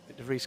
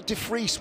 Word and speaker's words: de Vries: I'm still not seeing how de Vries rhymes with quick.